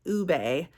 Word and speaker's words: ube: referencing is the purple potatoes um and you pronounce it Ube instead of like Uub so I did have to look that up